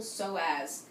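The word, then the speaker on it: psoas: you can just Google soaz it's an amazing muscle it's terribly neglected for most of us it's spelled PS OAS so as with a p the p is silent all right feel free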